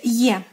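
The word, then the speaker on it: Е: Next, Ye.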